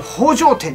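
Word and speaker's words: 宝星天: 、うん、宝星天って書くんだけど宝城天って読むらしいで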